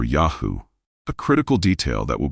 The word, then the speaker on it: Yahweh: When properly pronounced, the name appears as Yahoo or Yahoo, a critical detail that will become profoundly important later in our investigation.